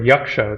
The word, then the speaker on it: yaksha: Oh, you can also say the word yaksha. That's how they say it in Sanskrit.